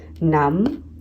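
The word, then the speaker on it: numb: Okay, next है जो silent digraph में MB, इसमें B साइलेंट होता है। ओके, फॉर एग्जांपल नम, थम, इसमें हम म बस बोलते हैं पर लिखते हैं हम MB।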